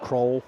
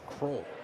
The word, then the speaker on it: Croll: So it's just Croll Croll. Pronunciation guide says K R O L L C but spelled the same way as Wyatt Crowell.